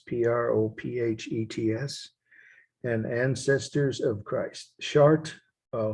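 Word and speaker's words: Chartres: of christ prophets p-r-o-p-h-e-t-s and ancestors of christ chart i'll spell it again because most of you weren't able to see this slides of shard on monday obviously c-h-a-r-t-r-e-s chart is the town and actually the cathedral but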